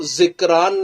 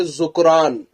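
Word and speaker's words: ذُکْرَان: آپ نے پوچھا ہے، جو اس کا اصل تلفظ ہے، جو اس کی اصل ادائیگی ہے، وہ ذکران نہیں بلکہ ذکران، یعنی زال پر پیش، کاف پر سکون، را پر زبر، پھر الف اور آخر میں نون ساکن کے ساتھ ہے، جو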